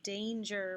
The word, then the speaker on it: danger: Danger is pretty fair too, except that A should be short according to where these letters are, but it's not, it's long, so that's the unfair position right there.